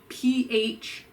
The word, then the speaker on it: phthalates: So phthalates, they're spelled Phthalates, but they're pronounced phthalates.